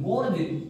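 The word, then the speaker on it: gorge: आता है दोस्तों एक गोर्ज देखलो अपने हिसाब से गोर्ज होता है गज होता है स्पेलिंग जी ओ आर जीई इसका मतलब ये है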